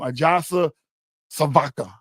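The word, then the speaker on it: Ajša Sivka: Ajasa Svaka, that's how you say her name.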